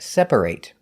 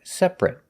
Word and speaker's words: separate: end of a word if it's a verb we pronounce it eight like separate but if it's not a verb we pronounce it it like separate the words we're looking